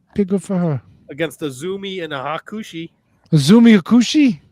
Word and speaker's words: AZM: Pronounced Azumi.